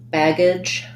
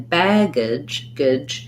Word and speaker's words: baggage: at here is um the the age in these words is not like the word age so if i'm saying age it has a clear a diphthong in baggage it's an if the letter a says the if or even a schwa baggage i think it's